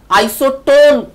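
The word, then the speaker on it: isotone: আইসোটোন যখন বলছো দেখো এন এর উপর গিয়ে তোমার গলার ভয়েসটা একটা স্ট্রোক করছে, this N indicates the neutron.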